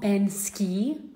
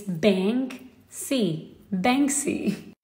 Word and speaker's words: Banksy: read this name guys it's not bensky no it's bank c how many did you